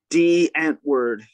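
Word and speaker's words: Die Antwoord: it called ant world d ant word but it's spelled like die oh because it's german yeah but they had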